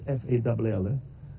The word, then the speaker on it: Fall: Yeah, they pronounce his name as Fall. I say Fall. It's F-A-L-L. Yeah, but he's not falling. It's Fall.